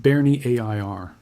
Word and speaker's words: Bernières: Every like on this video keeps the story of Courseulles and Bernières, pronounced Bernie A I R, visible for a few more It does not cost anything.